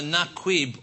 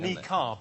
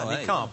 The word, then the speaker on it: niqab: But we also put, we think it's either naquib or nakid. It's something like that. It's like a naquib or something. Niqab is how it's pronounced. That's the correct answer. Niqab.